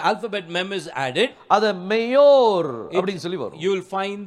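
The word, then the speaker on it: מאורה: you will find hey அப்ப இதை நீங்க உச்சரிக்கும் போது மேயோரா அப்படின்னு சொல்லி வரும் when you are pronouncing it it is mayor பாருங்க ஒரு வசனத்தை வாசிக்கலாம்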